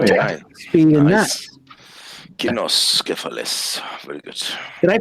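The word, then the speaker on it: Cynoscephalae: Kinoscephalus. Very good. did I pronounce that right?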